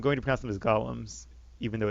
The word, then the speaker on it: golem: shattering blues damage against columns and other constructs it actually I know the word is golem but in this universe it's pronounced column which is supposedly an homage to Lord of the Rings I think it means